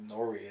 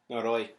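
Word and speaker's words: Noroi: called No nooy or Nori as you're calling it that's that's how you say it that's it's n o r o i noroy noroy nor yeah see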